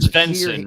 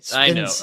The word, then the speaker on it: Svensson: Svensson, right? Yeah. How do you say what you said? Svensson, right? Yeah. Isn't it SV? I'll never get that right. Svensson. I know. Svensson. You gotta feel like you're Swedish.